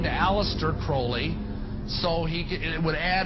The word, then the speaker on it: Crowley: be have his name pronounced crowley to rhyme with holy and uh the satanists